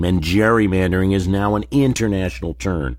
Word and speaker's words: gerrymandering: Not only has he lost his political dignity in history, but But Gerry lost the hard G in his name, and gerrymandering is now an international term for a crime against democracy.